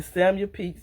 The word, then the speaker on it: Samuel Pepys: to look up the name so I could pronounce it right, in the Samuel Pepys Mystery Series, The Brampton Witch Murders.